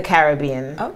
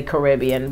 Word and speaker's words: Caribbean: we say the Caribbean a lot of Americans say Caribbean but if you the Carib Indians so it's the Caribbean I like that yeah